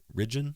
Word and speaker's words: Ridgen: and we're talking to Ren is that pronounced correctly Ren yeah that that is hi everybody I'm